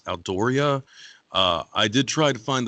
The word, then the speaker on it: Aldourie: And after a time, they start to become deposited in a castle, which I believe is pronounced as Aldoria.